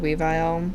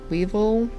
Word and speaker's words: Weavile: I've always said Weavile. I think I've also pulled that from Yu-Gi-Oh! Maybe? Weevil is the more correct pronunciation.